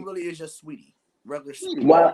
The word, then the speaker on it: Saweetie: really is just Sweetie, regular Sweetie. Sweetie. Well, it's spelled like that.